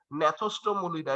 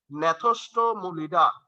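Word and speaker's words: Gnathostomulida: জি দিয়ে ন্যাথোস্টোমুলিডা। এই যে দেখো পাশে লিখা আছে, নামগুলা একটু আমার সাথে উচ্চারণ করো, হ্যাঁ, কারণ নামগুলা একটু কঠিন তো,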